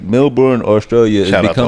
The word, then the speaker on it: Melbourne: Male-born, like males. No, Melbourne, right? Am I saying it right? I don't know. It's like Mel Gibson, but just Melbourne.